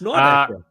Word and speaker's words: Nordecke: Nordecke, yeah, German name, yeah, worth mentioning for us. Die Nordecke. Yeah. The Nordecke, which seems very hard to pronounce for your average MLS. Well, they say Nordecke. Nordecke. It's like it's a real struggle. It's Nordecke. One of my favorite American